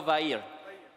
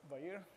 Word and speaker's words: Vair: Sorry, I think I mispronounced your name. It's Fabio Romolo Vair. Yeah. Perfect, thanks. Thank you very much. Good evening, everyone. Really happy to be here. I'm Fabio Vair, very well pronounced.